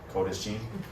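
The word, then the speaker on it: קודש: pressed probably already know kodesh kodesh it's holy looks like kadashi but it it's trust me it's code ishii and then the word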